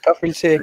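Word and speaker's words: Kafr El Sheikh: Born 22nd of July 1991 in Kafrel Sheikh, Egypt. Is that correct? Did I pronounce that right? Correct. Okay, sorry. Kafrel Sheikh, yes.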